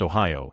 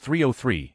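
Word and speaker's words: 3OH!3: I somehow convinced myself that the band 30H3 was pronounced Ohio and that they banned formed in Ohio. Imagine my shock when I found out it's pronounced 303 and they're from Boulder,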